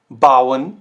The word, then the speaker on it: bauen: ठीक है, तो ये जो साउंड करेगा ना, ये आपका कुछ ऐसे साउंड करेगा, आओ, आओ। जैसे zum Beispiel bauen, bauen, laut, laut, auto, auto।